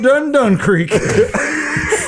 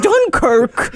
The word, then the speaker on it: Dunkirk: I haven't been felt this much upriver since we've been up Dun Creek. It's pronounced Dunkirk.